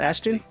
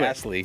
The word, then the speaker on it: Astley: Is that Ashton? Oh, Astley. And I've been saying it wrong this whole time.